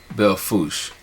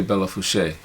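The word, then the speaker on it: Belle Fourche: i go to sturgis i typically stay in belfouse that's how the locals pronounce it it doesn't have the accent over the ease so you don't say bella fouche it is actually the foosh and most like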